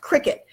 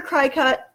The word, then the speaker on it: Cricut: I keep calling it crackin it's pronounced cricket but in my head I hear cry cut I don't know why